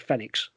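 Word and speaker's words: Fenyx: they showed off immortals phoenix rising although phoenix is spelled f-e-n-y-x so i thought with fenix fenix rising fed eggs so is this the game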